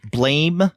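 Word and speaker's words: Blame!: December manga show, that we may have been calling it blame, but I think Shay had mentioned that it looks like blame, right? But it should phonetically be blam, right.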